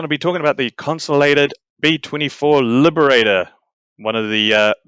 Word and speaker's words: Consolidated: Corps, or the USAAC, for consolidated or constellated, whatever one you want, I pronounce it consolidated, to produce the B-17 under license.